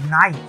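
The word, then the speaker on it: nigh: এন্ড দা বাইওয়ে nine নাই এন আইজি এইচ এর উচ্চারণ হচ্ছে নাই।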